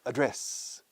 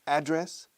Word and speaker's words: address: Address. Hay dos pronunciaciones. Address and address. Address and address. Para decir mi dirección física. O correo electrónico se dice my email address. Yo recomiendo address, no address.